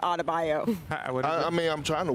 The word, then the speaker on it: Adebayo: You added a whole extra syllable to Adebayo.